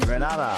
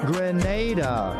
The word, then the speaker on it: Grenada: So today, like we Germans say, we are in Granada, but I heard in English it's called Grenada. Say it right. Grenada. Say it right. Grenada. That's right. It's not granada.